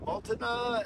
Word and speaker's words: Multnomah: So Sisters, and then Multnomah, I think that's how you say it, the Falls, that was the second best burger.